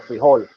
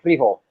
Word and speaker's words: frijol: In Mexico, they say frijol, and they put the emphasis on the second syllable, frijol. But in Colombia, they say frijol.